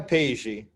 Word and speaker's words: Peji: I go by Peji. Okay, Peji. Okay. And just remember, the J is a French J, so it's has a pronunciation of sh. More like a G.